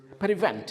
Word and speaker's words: prevent: Uh the next word is prevent. How many syllables are there? Two. Two. Two syllables. Okay. Okay. Where is the stress? The stress is on the second syllable.